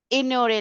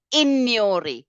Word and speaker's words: ignorer: We don't pronounce this as ignore. It's ignorer. GN is near sound, like we have in champagne, campaign, montagne. It's that sound. We don't say champagne. We don't say montagne.